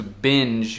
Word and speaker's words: binge: No segundo verbo, to binge, o G fica uma J porque tem um E no fim da palavra, né?